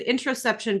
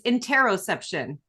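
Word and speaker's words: interoception: processing how interesting and I said it wrong I said interception but it's interroception enteroception okay sorry about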